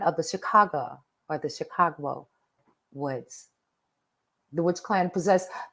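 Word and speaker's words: Shikahogh: just one minute but it is spelled the witch clan of s-h-i-k-a-h-o-g-h pronounce Chicago Chicago Woods ironic I know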